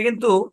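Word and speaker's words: coup: থাকলে মানে সাধারণত শব্দের শুরুতে কিন্তু দেখেন এটা কিন্তু শব্দের শেষে আসছে ভাই ওই ঝামেলা আছে জন্যই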